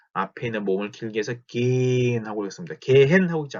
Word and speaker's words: gehen: 이것도 읽을 때 gehen 하고 있는 게 아니라 gen 하고 있죠.